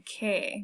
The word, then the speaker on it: qué: One key thing to remember is we pronounce every single vowel, okay, with the exception of this U here in que, because it's part of the sound k.